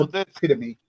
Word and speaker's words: epitome: It's epitome.